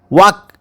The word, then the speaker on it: walk: ताकू silent letter कहते example WALK या वाक अर्थ चलवा एल हूँ एठारे साइलेंट लेटर एभली साइलेंट लेटर कहीं